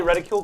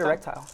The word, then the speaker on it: reticule: aing reticule dysfunction mhm did I say reticule correct you said erectile I always say erectile reticule I nothing rhymes